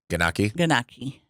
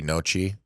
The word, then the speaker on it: gnocchi: I think the G is silent. I can remember how it sounds, but I can't remember how to say it. It could be Nochi.